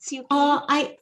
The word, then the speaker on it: Suke: Is it Suke? I'm usually go as the name Suke, but a few people call me Suke. Okay. But Suke is good. Suke, I still answer to.